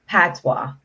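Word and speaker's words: Patois: where what we call Patwa yeah or it's spelled p a t o i s but it's pronounced p a t w a so we said yeah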